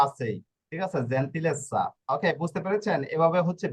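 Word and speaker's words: gentilezza: এখানে স্বর উচ্চারণ করবে, স্বর উচ্চারণ কেন করবে, double z এই যে এর নিয়ম, জন্য S, নিয়ম অনুযায়ী double z এর জন্য ডাবল S, জেড দেখবে না, লাস্টে আনসা এসা, আনসা এনসা ইসা অসা এসা এগুলা রয়েছে, ঠিক আছে, এই জন্য এটা স্বর উচ্চারণ করবে।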